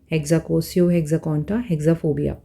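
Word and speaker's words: hexakosioihexekontahexaphobia: लेट me pronounce it फॉर यू। मुझे भी time लगेगा बोलने में। हेक्साकोसियो हेक्साक हेक्साफोबिया हेक्साकोसियो हेक्साकॉन्टा हेक्साफोबिया यह एक ही वर्ड है।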